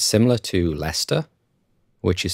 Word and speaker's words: Leicester: Leicester which is spelt Lester or Lester but pronounced Lester there are lots of British place names that